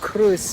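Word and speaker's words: Croes: I believe it's pronounced Cruz in Spanish, but spelled C-R-O-E-S.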